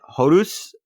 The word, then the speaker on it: Horus: But we kicked off the action with Rey Horus, but Selena actually announced who all the matches were. So we had Horus, which is apparently the right pronunciation, because apparently the way that Jim Cornette